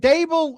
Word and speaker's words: Dable: Is it Dable rhymes with table?